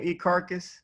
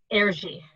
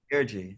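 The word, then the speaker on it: Erzsi: Ekarkus? Erji. Erji. So air and then G like Gigi. It's Hungarian. It's a Hungarian name. That's a cool Erji.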